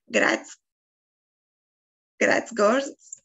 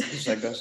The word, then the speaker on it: Grzegorz: Okay, so the first I have is, I cannot pronounce it. Gratz Gors, then, yeah, sorry. It's Grzegorz, it's all right. Yeah, so my name is Grzegorz.